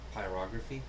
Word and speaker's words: pyrography: Pyrography. Pyrography? Yes. Is that how it's said? Yes, you're putting the wrong emphasis on the wrong syllable. Pyrography. Pyropathy.